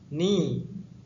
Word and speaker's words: knee: دست head head سر knee knee زانو در این کلمه گفتم که حرفی که تلفظ نمی شود leg leg پای قسمت